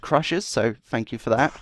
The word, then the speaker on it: Krxshz: in by Crushers, and that name is spelled Krxshz. I did have to ask how to pronounce that so that I didn't mess it up and try and say it the way I just did, you know, so I did get confirmation that it is pronounced Crushers, so thank you for that.